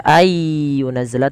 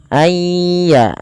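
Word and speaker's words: أن ينزل: Tidak dibaca ay yunazzala tapi ayya sambil dimasukkan ke rongga hidung.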